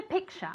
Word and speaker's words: picture: Porque aunque se escribe con una T ahí, no se pronuncia la T. Se pronuncia como si fuera CH, ¿vale? Y como si tuviese una A realmente al final ahí.